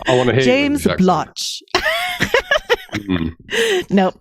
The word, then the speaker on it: Blatch: Blacks, Blatch is exactly correct.